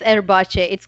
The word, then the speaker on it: Erbacce: Am I pronouncing this right? The Erbacce. It's Erbacce.